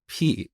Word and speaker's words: pi: concept of constants, but I pronounced this word as p instead of pi. And believe it or not, to this day, people make fun of me for saying p instead of pi, but that's how we learned this back in Iran. We pronounce it as p, and I think Greek people also say p.